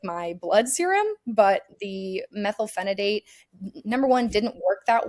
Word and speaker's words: methylphenidate: So I got off of that, and then I got on methylphenidate, which I think I'm pronouncing that correctly.